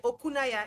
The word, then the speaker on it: Okunaya: Did I pronounce your surname correctly? I cannot keep apologizing for not pronouncing people's names correctly and that's very fine. Okay. Okunaya. Is that it?